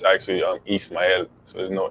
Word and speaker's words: Ismael: latin american heritage yeah um my name is but in spanish it's actually um east miami so there's no h so that's why this